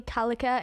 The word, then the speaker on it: Callacher: So basically, my name's Callacher, and you're probably wondering how to spell that. So it's a bit like Gallagher, but you replace the G's with C's.